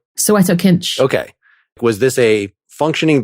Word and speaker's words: Soweto Kinch: So how do you pronounce the saxophonist's name? Soweto Kinch.